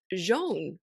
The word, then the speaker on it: John: yeah but he said his name is spelled John J O hn but he pronounces it Jean and because he was